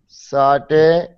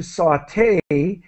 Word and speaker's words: sauté: And the verb to sauté is obviously French. This is how we pronounce it.